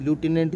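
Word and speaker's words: lieutenant: Correct spelling पूछी है हमें किसकी? लेफ्टिनेंट की। लूटिनेंट जिसको बोलते हैं एल आई ई यू टी ई एन ए एन टी।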